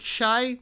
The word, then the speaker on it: Chi: before now I know CH hi I pronounced like Shai means Chicago thank you people